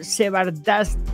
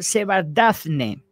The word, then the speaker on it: Shevardnadze: Y bueno, pues en aquella época, Georgia estaba en el poder, estaba Eduard Shevardnadze, a ver si lo puedo pronunciar bien porque tiene unos nombres más raros. Se llama Eduard Shevardnadze, Shevardnadze, que es su apellido.